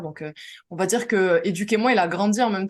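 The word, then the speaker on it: Educ'Emoi: Je le prononce bien, Éduquez-moi, Oui, c'est ça. Éduquez-moi.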